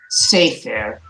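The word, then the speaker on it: סֵפֶר: So when we have a tsere at the beginning of a two-syllable word, we also emphasize the first syllable. We accent the first syllable, sefer.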